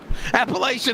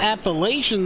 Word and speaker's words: Appalachian: of the words okay so it's appalachian you gotta say it right man appalachian appalachian you just said it's appalachian no it's appalachian you're getting me confused damn it it's appalachian appalachian they'll get mad at you you don't say it like that appalachian hollow hunters yeah there